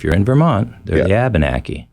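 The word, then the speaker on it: Abenaki: you might also hear abanaki which is a little more of a generic English way of saying it you may hear the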